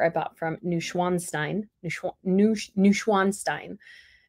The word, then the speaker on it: Neuschwanstein: bought from new schwanstein neuschwan Stein because I said neuschweinstein and schwein sounds more like swine pigs so Schwann just anyways pronunciations issues um